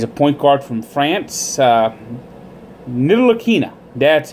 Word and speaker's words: Ntilikina: Ntilikina. That's how it's pronounced. Ntilikina.